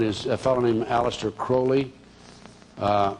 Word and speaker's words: Crowley: a fellow named Alistair Crowley uh he liked to be called holy acrylic because it rhyme with holy but his real name